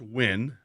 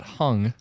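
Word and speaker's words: Huynh: think yeah it's pronounced win yeah there's no g in it like h y u n h I believe yes yes it's not hung it's not but although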